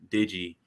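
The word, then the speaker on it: Dygi: spell it so it's pronounced Digi but it's spelled d-y-g-i I love it I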